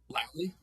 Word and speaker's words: Lally: Lai.